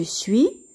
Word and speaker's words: suis: suite je suis je suis ici le s ne se prononcent pas tu es es ans